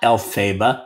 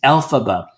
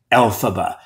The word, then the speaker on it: Elphaba: No, she's Elphaba. Stress is on the first syllable, the same way it is in the name Dorothy, and also, for that matter, in the name Margaret and Hamilton, Elphaba.